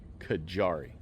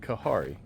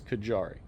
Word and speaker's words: Kajari: pronunciation of this melon, Kajari. I was pronouncing it Kahari. It's definitely not Kahari, it is Kajari, but those are doing really well.